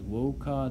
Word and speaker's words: voca: is what he says, voca davum. Voca is the imperative verb form. Notice it ends with a vowel, a long A in this case, and then he uses